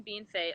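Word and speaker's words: Bienfait: are isn't it i'm actually at home in bean fate i live in a small town right side right outside of estevan i know how to pronounce bean fade i know that yeah you got that right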